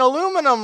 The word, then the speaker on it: aluminum: a lot of uh you brits out there been saying oh you're saying aluminum wrong it's aluminium and it's actually a us